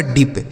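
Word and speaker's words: dip: इस आई से हमें छोटी इ की मात्रा लिख देना है। यह लिखा गया आपका डीप। क्या लिखा है? डीप।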